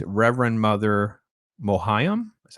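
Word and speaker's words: Mohiam: in the new Dune movie 's Reverend mother mohayam is how you say her name Ohio she's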